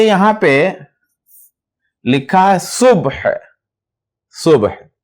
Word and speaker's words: صبح: صبح یعنی اس طرح سے ہے, یہ سواد ہے, اس پر پیش ہے, یہ بے ہے, اس پر جزم ہے, اور یہ ہا ہے, خے, اس پر بھی جزم ہے.